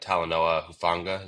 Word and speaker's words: Talanoa Hufanga: So like the two in free agency that jump out to me are, I don't want to say his name wrong, but Talanoa Hufanga, is that how you say Yeah.